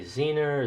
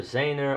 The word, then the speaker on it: zener: nothing more than a zener zener or zener diode depending where you are in the world how you pronounce it and you adjust the